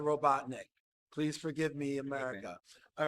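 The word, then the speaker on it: Robotnik: you say things correctly I apologize for pronouncing it Dr robon neck instead of Dr robotnick please forgive me America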